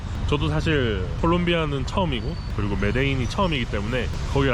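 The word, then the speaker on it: Medellín: 여기는 메데인입니다. 메데인? 조금 더 콜롬비아 발음으로 하면 메데친.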